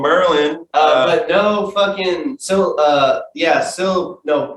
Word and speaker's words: MRLN: Dan plays in a sick ass band called Merlin. but no fucking no, not syllables, fucking it's spelled MRLN.